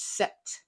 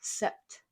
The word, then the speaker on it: sept: could always use the French word for seven which is set if the memory says that is one syllable sept yeah it's like September I guess that makes